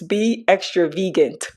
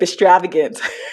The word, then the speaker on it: Be Extra Vegan: I just realized that for years I've been mispronouncing her YouTube channel and her website. For some reason, it just clicked like it's Be Extra Vegan. And I've been saying extravagant for all this time.